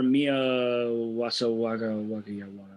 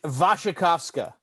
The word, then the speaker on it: Wasikowska: Brimstone was supposed to star Mia Wasawaga, the Australian chick.